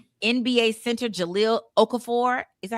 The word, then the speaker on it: Okafor: NBA center Jalil Okafor, is that how you say it? Okafor.